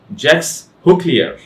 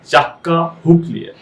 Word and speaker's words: Jacques Huclier: সো যে প্রোনাউন্সিয়েশনটা আসে সেটা হচ্ছে জ্যাক্স হুকলিয়ার। Still I am kidding. এই প্রোনাউন্সিয়েশনটা আসলে যেভাবে প্রোনাউন্স করে সেটা হচ্ছে জাক্কা হুকলিয়ার। জাক্কা হুকলিয়ার। সো এইটাই হচ্ছে রাইট প্রোনাউন্সিয়েশন এই নামের।